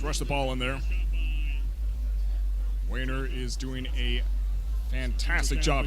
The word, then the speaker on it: Wainer: I actually have his name pronounced right here. Let me get some respect on that guy's name real fast. Wainer. Yeah, I said it right.